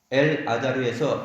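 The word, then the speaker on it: אלעזר: 나사로라는 이 말은 헬라어로 라자로스라는 단어인데, 라자로스는 구약 성경의 엘르아살의 축약형입니다. 엘르아살은 히브리 발음으로 하면 엘 아자르입니다. 엘 아자르에서 에 발음을 빼고 나서 보면은 라자르 이렇게 되죠. 라자르가 됩니다. 그래서 우리는 한글로서는 니은을 넣어가지고 나사로 이러는데 원래는 리을입니다. 라자로스예요.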